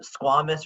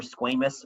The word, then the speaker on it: squamous: of the cells um squamous or squamous i've heard it pronounced both ways i usually say squamous squamous cells are flattened